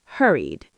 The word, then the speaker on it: hurried: First, hurried. Hurried. This one has the id ending. Hurried, hurried. You hear that extra syllable at the end. Hurry-ed. That's the third ed pronunciation, id.